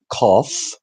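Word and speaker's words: قاف: And Qaf, in Egyptian Arabic, it's turned to eh. So Qaf is pronounced like the first letter in Arabic, which is Alif, which looks like this pen, Alif, just a stick.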